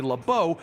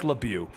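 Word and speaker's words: LeBeau: they got nothing right we did look up the pronunciation but it was pronounced both Le and leau basically allowing us to pick which one we liked the most and we like lebu Remy lebu was born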